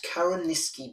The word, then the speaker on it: Carrowniskey: There's a good surf school at Karaniski Beach. How do you spell that?